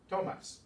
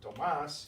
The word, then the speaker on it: Tomás: But Tomas gets the stress there, and in writing we have to show that with an accent mark because it varies from this rule.